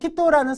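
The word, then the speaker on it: 人: 이거 히토라고 읽어주셔야 돼요. 물론 인자에 한국인 할 때는 음으로 읽을 때 징으로도 읽죠. 그죠? 징으로도 읽잖아요. 한국인. 일본인, 니혼징으로도 읽고. 그 다음에 4명, 5명 할 때 요닝, 고닝 할 때도 닝으로도 읽죠? 요건 음으로 읽는 거죠. 하지만 사람이라고 할 때는 요거 한자 나왔을 때는 히토라고 읽어주셔야 됩니다. 히토.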